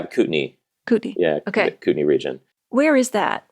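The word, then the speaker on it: Kootenay: with food and restaurants do you pronounce it the cutney yeah cutney cutney yeah cutney region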